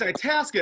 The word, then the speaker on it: Itasca: They say it's Itasca. It rhymes with Alaska, but it's not in Alaska.